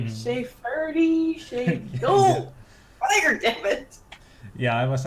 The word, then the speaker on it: Fyre: Funny enough, nobody can pronounce the fact that it's just fire with an alternative spelling. It's like SheaFyre, Shea. No! Fire, damn it!